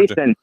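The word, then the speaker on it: Noesen: How about Stefan Newson, or is that how you pronounce his name? He's been tearing it up in December. Nason.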